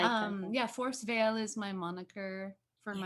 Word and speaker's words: Forest Veil: Is it Forest Veil or Forest Vile? How do you say it? Forest Veil. Veil. Okay. Yeah, I wasn't sure.